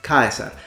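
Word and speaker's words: Caesar: so the idea is they still use a k sound because ancient tribes of that area in that period heard it as a k sound the diphthong was I it wasn't just e and most importantly the C is hard these are just a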